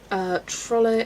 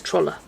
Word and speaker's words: Trolle: Trolle is pronounced with the E at the end.